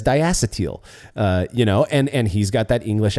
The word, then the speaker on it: diacetyl: I call it diacetyl. And now here's the thing. I put the emphasis on the ass there, right? Diacetyl. You call it diacetyl. I believe diacetyl is also correct.